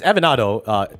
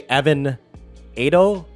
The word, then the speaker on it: Evanado: It's Evanado. They say Evanado, like tornado.